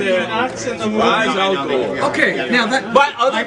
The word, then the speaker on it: Ra's al Ghul: What is the exact pronunciation of Ra's al Ghul? It's Ra's al Ghul. Yeah, There it is. Ra's al They Ghul. tried you nuts in the movie. Ra's al Ghul.